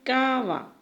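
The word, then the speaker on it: kava: En guaraní, abeja se dice cava. Cava. Y ahora vamos a escribir aquí. Cava. Y lleva un acento en esta parte.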